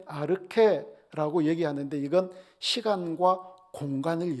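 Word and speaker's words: ἀρχή: 가지고 있구요 요한복음 1장 1절에 태초 는 n 아르케 라고 얘기하는데 이건 시간과 공간을 얘기를 해요 자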